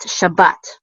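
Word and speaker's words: שבת: This is sha, and then a bet with a kamatz, which says ba, and this is going to close out with this letter right here, tav. So bat, Shabbat, and this is of course a Sabbath.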